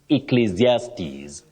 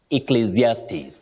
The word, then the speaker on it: Ecclesiastes: anyone to pronounce but this one you say e then zes Ecclesiastes Ecclesiastes can you try it